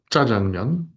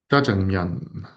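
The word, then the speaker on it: 짜장면: So, jjajangmyeon. So this is, there we go, pronounced as though it's sangjeot. Oops, jjajangmyeon.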